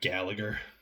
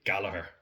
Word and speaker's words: Gallagher: It's like Gallagher. We don't pronounce the second G, only one G, my G.